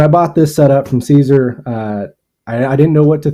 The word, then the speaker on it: CZUR: has come up, and I don't know if it's Seizure or Caesar. CZUR is how it's spelled. You find them online. It's got to be Caesar, because seizure just sounds like a bad marketing mistake.